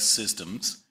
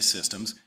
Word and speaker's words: CSDMS: comes in so csdms if you pronounce it with a soft C sounds like systems so sometimes people say systems it's really three things